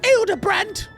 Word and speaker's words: Hildibrand: It's pronounced Hildibrand.